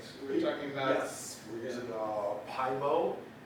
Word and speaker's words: Pyomo: Again, it's spelled P-Y-O-M-O. Yes. And I'm pronouncing it Pymo, so move on. No one said, am I going to pronounce it Pyomo? No, Pymo.